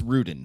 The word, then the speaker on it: Rudin: There's Oh, and it's uh Brian, it's Ruden. Ruden. Ruden. Okay. I'm I'm mispronouncing.